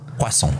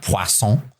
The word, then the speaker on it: Poisson: Poisson. I think I'm pronouncing it correctly.